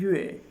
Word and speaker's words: 越: मेरे साथ प्रोनाउंस कीजिएगा। जुइचिन। जुइचिन यानी लेटली, रिसेंटली या हाल ही में। और नंबर 13 है यूए। यूए होता है मोर या फिर टू अ ग्रेटर डिग्री।